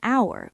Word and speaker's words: hour: Notice I said an hour because the h is silent, so it has a vowel sound.